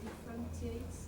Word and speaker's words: differentiates: Differentiates. 5 syllables. And that is a tss, because you've got a t at the end, haven't you? So it's not a z.